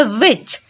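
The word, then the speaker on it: watch: में भी क्या है टी सी एच लास्ट में है तो टी हो जाएगा साइलेंट तो पढ़ेंगे वच ना कि विट ज ठीक है चलिए अब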